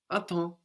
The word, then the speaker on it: attends: The M on the end of the syllable there gets completely swallowed up. Attends. And the P and the S on the end there also completely disappear.